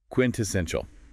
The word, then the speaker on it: quintessential: Quintessential. Four syllables. Stress on the third.